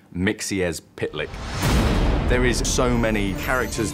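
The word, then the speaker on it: Mxyzptlk: it it's one of those tricky ones it's pronounced mixies pitlike there is so many characters that we've just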